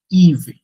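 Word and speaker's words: hiver: এইচ কখনো French উচ্চারণ হয় না, এইচটা করে উচ্চারণ করে না, সেটা হিভে না বলে ইভে, ইভে।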